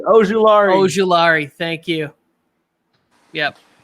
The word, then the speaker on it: Azeez Ojulari: I needed the pronunciation. Ojulari.